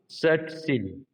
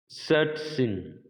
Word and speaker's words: सचिन: लेकिन अगर कोई अंग्रेज कमेंटेटर उनके नाम का उच्चारण करेगा, वो बोलेगा, ध्यान से सुनना, सचिन, सचिन। सुनाई दिया आपको? आशा सुनाई दिया? यानी कि ट और 21 वाली जो श होती है, दोनों की मिली जुली ध्वनि आती है इसमें, च में।